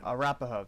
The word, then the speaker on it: Arapahoe: Arapahoe, that's how We you pride pronounce it.